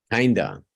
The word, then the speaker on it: kind of: I kind of wish kinda yes kinda where my started reading those I kind of yes kinda normally pronounced kinda especially if it's followed by a consonant kinda kinda as one word sometimes people write it